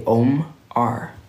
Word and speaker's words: OMR: And you can still pronounce and say OMR.